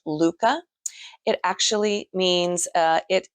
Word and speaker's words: Lykke: um this is the Luca Lu CCA is how it sounds but it's actually spelled l y k ke I would have said likey but it's actually pronounced Luca it actually means uh